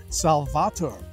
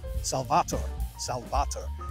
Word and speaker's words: Salvator: me to review Paulaner Salvator, or as you may hear it pronounced sometimes in the United States or some parts of the world, Paulaner Salvator, or in Germany it is pronounced Paulaner Salvator.